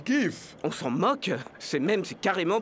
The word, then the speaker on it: GIF: À vrai dire, ça se prononce GIF.